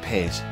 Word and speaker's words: Pace: I know it looks like pace, but it's Italian for peace and it's pronounced pace.